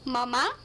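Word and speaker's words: mamá: uh mom would be mama mama you have to put the accent on the last day otherwise it means breast mummy the way children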